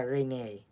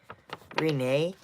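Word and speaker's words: Renée: Yeah, Renee. Because if you may know, like, how to pronounce the name. Where is it? Over there. Renee.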